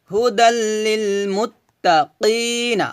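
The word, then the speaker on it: هُدًى لِّلْمُتَّقِينَ: কফ ইয়াজের কি, কি, কফটা মোটা করে উচ্চারণ করতে হবে, কি, এভাবে। নুন যেমন না, কি না, হুদাল লিল মুত্তাকিনা।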